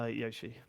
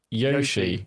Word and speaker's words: Yoshi: Um so generally generally Americans will say Yoshi. Americans say Yoshi, but it's Yoshi.